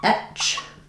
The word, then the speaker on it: etch: Um looking at a difference between a word like edge with the voiced J sound and etch with the voiceless ch sound.